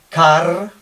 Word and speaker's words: car: la palabra coche Pues un español diría eh car o algo así y se acerca bastante se acerca bastante esto sería una a larga pero si nos eh nos centramos en el inglés en la pronunciación del inglés británico el inglés estándar británico la r no sonaría eh sería k k y la r desaparece solo sonaría si Otra palabra que viniera después empezara por vocal eh pero como palabra